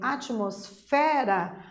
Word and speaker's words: atmosfera: a atmosfera vejam que também atmosfera o fé é a sílaba mais intensa da palavra atmosfera portanto a sílaba tônica é a sílaba mais forte é temos também que a palavra atmosfera é considerada uma paroxítona porque a penúltima sílaba é a tônica percebam aqui também uma